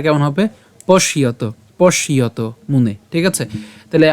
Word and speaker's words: পশ্যত: উচ্চারণটা কেমন হবে? পশ্যত, পশ্যত মুনে।